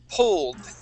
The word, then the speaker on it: pulled: This word here is pulled. It ends with a D sound.